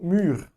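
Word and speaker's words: mûre: Ou mûr. Qual que é a diferença? Nenhuma. Apesar de ter o E aqui no final, no feminino, ele não vai ser pronunciado, porque o E, a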